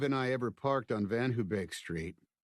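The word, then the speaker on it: VanHoebeek: The first time Mave and I ever parked on Van Hubake Street, Van Hubake, mispronounced as Van Hobic by everyone in Elkins Park, was the first time I'd come home from Chot for spring break.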